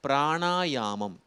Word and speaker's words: பிராணாயாமம்: அது வந்து உபநிடதத்தில் வருவது அதேபோல பிராணாயாமம் அதுதான் சரியான உச்சரிப்பு இந்த மாதிரி ஒரு புது